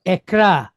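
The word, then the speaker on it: אקרא: Then we have the letter resh, and it's pointed kamatz with aleph behind it. So the aleph is a silent letter, but it's just going to kind of carry on this A sound here. So we have r, a, ra. All right, so ekra.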